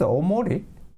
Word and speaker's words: Omori: found that so actually how to pronounce it it's omori so just recently i checked with wikipedia and learned that it it came from hikikomori all right so this